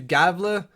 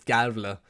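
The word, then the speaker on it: Gävle: From there, we move up north to Galve. I always mispronounce the name where Alex Lundkrantz plays, Gavle.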